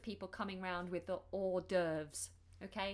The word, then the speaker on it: hors d'oeuvres: also hear the phrase hors d'oeuvres hors d'oeuvres obviously this is not an English word but this is how we say it or like o r or doves hors d'oeuvres hors d'oeuvres